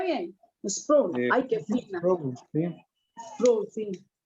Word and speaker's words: Sproul: Y lo pronuncié bien. Sproul.